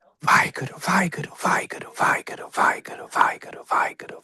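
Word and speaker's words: ਵਾਹਿਗੁਰੂ: It's a plosive where the two lips press together. So it's halfway between.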